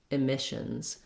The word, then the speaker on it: emissions: To do that here, you would say mish, missions, emissions. That way I don't start the word the old way. I break the habit and I'm able to really hear that the mish syllable is the one that has the clear vowel and is longer. So missions, emissions. The letters, the double S in emissions say the SH sound.